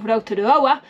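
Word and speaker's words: Rotoroa: board or swim at Lake roroa note the pronunciation of roroa not Rua where we went to previously on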